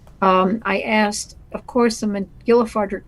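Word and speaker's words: Mac Giolla Phádraig: So is that how you pronounce it? Like a PH, like an F sound, like phone? Yeah, McGillifardrick it is. So so it's McGillifardrick.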